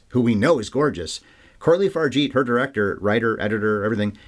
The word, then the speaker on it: Coralie Fargeat: to pronounce her name I finally found that I think she said it but Corley fargate is apparently how you say it so I saw several